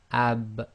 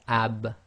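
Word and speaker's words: ب: lips touching together um then we have AB again this is one of the echo letters you cannot complete it without separating the two parts of your mouth that come together or in this case the lips so so we have ab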